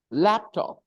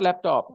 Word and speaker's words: laptop: message Facebook video game laptop it's not laptop it's laptop so whenever you have compound nouns the stress will be on the first noun not on the second